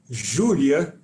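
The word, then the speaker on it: Júlia: doing is called julia in portuguese we pronounce it julia and it's the name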